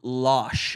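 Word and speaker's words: Laxe: And Oliver Lash, I think is how you say his last name is um like French Al.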